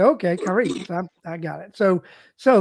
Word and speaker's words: Kai: so I see you got in parentheses it's K yeah that's how you you pronounce it cor my bad you're fine I